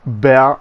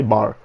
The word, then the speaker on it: Bär: This is how properly pronounce this by the German players. I mean, I asked Mixes from one, which is German, how to say correctly bear in German. I mean, how you should really correctly say it, but I will say bar.